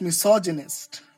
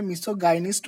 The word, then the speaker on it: misogynist: তো this kind of people are known as মিসোজিনিস্ট। Be careful guys, অনেকে এটাকে মিসোগাইনিস্ট বলে, কিন্তু the actual pronunciation is মিসোজিনিস্ট। মিসোজিনিস্ট।